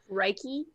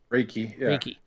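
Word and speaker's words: Raike: both height and breath reiki spell that r-a-i-k-e reiki he is dressed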